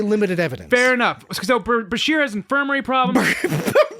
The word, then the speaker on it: Bashir: So Bashir has infirmary problems. Berkshire.